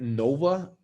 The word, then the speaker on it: Nova: Well, Miss Pettitt, do you know what Nova translates in Spanish? I can't imagine it's something good. So Nova, supernova, Nova, in Spanish, when you pronounce it, it's pronounced as Nova. No, va, go. No go. Does not go.